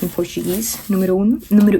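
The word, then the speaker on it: Numéro 1: I was saying it's the Chanel number 1 and it's the Chanel Numero 1. That makes sense. I'll say like in Portuguese. Numero 1.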